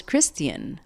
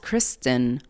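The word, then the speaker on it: Criston: one has told me I thought his name was Christian like Christian Cole no it's just Kristen Cole so sorry Kristen anyway just wanted to get that correction out there his name is Kristen not Christian which I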